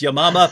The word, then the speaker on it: Yamama: hatune just mentioned the battle of i say yamama that she pronounced it correctly which is yamama but as soon as anyone says battle of